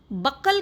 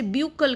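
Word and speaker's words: buccal: Mouth को हम बकल cavity भी कहते हैं। कई बार आप सुने होंगे इसे ब्यूकल कैविटी भी कहते हैं। एज you wish you can pronounce बकल cavity और ब्यूकल कैविटी।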